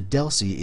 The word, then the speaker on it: DLCI: future lessons so the deli is the layer 2 address that frame really uses it's a 10bit um data link connection identifier dlci pronounced Deli they're locally significant we